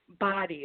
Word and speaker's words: Bade: out on its body it's actually phonetically spelled I knew that I was either I know what if you're on your toes but body thank you thank you for correcting me the body collection yes yes well thank